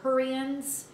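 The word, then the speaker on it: Hurrians: are known as the hurians it sounds like hurry up but spell it h-u-r-r-i-a-m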